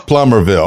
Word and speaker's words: Plumerville: I always go plumerville plummerville how do you pronounce that laughs plummerville plummerville okay so tell me about all right if